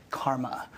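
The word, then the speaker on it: CCRMA: way that she ccr8 and is pronounced Karma I direct the Stanford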